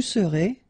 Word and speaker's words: serez: Je serai, tu seras, il sera, elle sera, nous serons, vous serez, ils seront, elles seront.